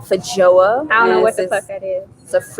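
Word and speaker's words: feijoa: variant of it and i am told this is pronounced faja i don't know what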